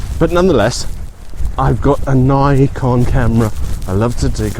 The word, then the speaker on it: Nikon: the name of this, there's only 1 consonant, which makes it a long Nikon. And it's kind of like the word bike. You've got B-I-K-E, bike. I'm doing an English lesson here. Fun, isn't it? So take the N away, I'll blur it now, and you're left with icon.